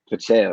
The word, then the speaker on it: Pacheco: And also something else about Pacheco, what I can't even pronounce it. It's But Pacheco, right?